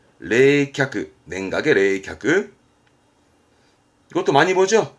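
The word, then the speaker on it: 冷却: 쓰는 부분 아니시고요 냉각입니다 각 냉각 상태 각자입니다 발음은 레이캬크 레이캬크 냉각의 레이캬크 이것도 많이 보죠 냉정한 발음은 레세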